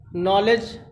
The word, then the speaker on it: knowledge: दूसरे में देखिए यन से पहले के आया है, नॉलेज, इसको हम यहाँ पढ़ते हैं नॉलेज।